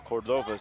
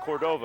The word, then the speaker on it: Cordova: next to us call Cordova's name it's not Cordova it's Cordova and that's probably the way that it should be pronounced probably it's going to